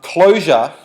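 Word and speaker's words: Clojure: operating like that um closure that's spelled with a J is a Lis variance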